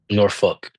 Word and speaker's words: Norfolk: How do like the the actual locals say it? Norfolk. Norfolk. Norfuck. Oh, like literally like Yeah.